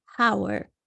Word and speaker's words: hour: So with the case of an hour, think about it for a second. How do you say it? You don't say an hour, right? You say an hour. So it almost sounds like hour, as if, right? It sounds like this.